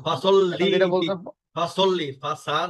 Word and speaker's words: فصل: আমি একটু আমরা তো সবসময় বললে যে পাসাল্লি রাব্বিকা ওয়ানহার, কিন্তু এখানে পাসাল্লি লি রাব্বিকা এটা উচ্চারণটা কি এটা হবে? হ্যাঁ পাসাল্লি তাসদিদ আছে পাসাল্লি যেটা তাসদিদ আছে, আমরা তো বলি পাসাল্লি রাব্বিকা ওয়ানহার। না, ফাসাল্লি এখন যেটা বলছেন ফাসাল্লি, ফাসা না বলে বলবেন